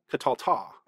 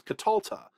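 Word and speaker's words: qatalta: This is not katalta. This is katalta. The accent has shifted to the second to last syllable, katalta.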